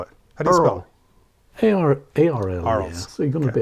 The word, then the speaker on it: Arles: Earls? 5th of July to 26th. Earls? Is it Earls? How do you spell it? A-R-L. Yeah. Arles.